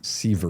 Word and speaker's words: Sivert: Sivert Glarum. Sivert. It's Norwegian.